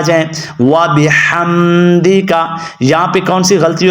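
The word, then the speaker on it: وَبِحَمْدِكَ: غلطی ہوتی ہے کہ یہ حروف ہلکیہ ہے اور یہاں پہ موٹا ہا لوگ پڑھ بیٹھتے ہیں، وَبِحَمْدِکَ، تو وَبِحَمْدِ نہیں پڑھنا بلکہ کیا پڑھنا ہے؟ وَبِحَمْدِکَ، اور بعض لوگ اس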